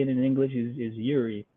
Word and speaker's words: Eury: How do we pronounce Eury Perez's first name? You got it right there. Eury. Say it again for me. Eury.